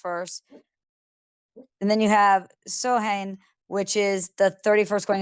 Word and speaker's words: Samhain: Well, because it's in that whole, like, if you look at SAMHAIN, as an American, you want to say Samhain, and it's like Samhain. It's Yeah. Samhain, Yeah, yeah.